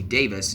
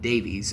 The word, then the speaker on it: Davies: Davies was on by the way, it's Russell T. Davis, not Davies. I know, I'm an American, I say it wrong.